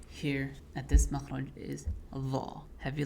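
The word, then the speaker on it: ظ: But like ta and ta, dhal and dha only differ in their heaviness. So they come from the same spot, but you will frown when pronouncing dha and smile when you pronounce dhal.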